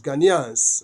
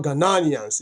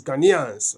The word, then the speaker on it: Ghanaians: Ghanaians. Okay. It's not Ghanaians. It's Ghanaians. Okay. That's the correct pronunciation.